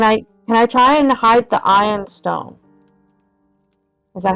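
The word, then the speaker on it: Ioun stone: Can I try and hide the ion stone?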